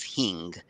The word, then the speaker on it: hing: which is hard to spell and hard to pronounce I know it as Hing h i n g that's what my mom